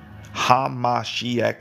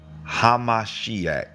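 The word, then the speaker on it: המשיח: come or the hamash hamashiach four syllables you don't have to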